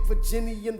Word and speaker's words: Virginian: Virginian, the venerated Virginian veteran. Virginian. It should be 3 syllables.